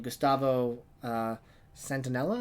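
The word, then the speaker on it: Gustavo Santaolalla: of us one box set though I mean Gustavo Centinela is how you pronounce his name he is an amazing composer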